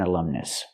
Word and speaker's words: alumnus: person who attended the school previously that's an alumnus let's practice he attended the school previously he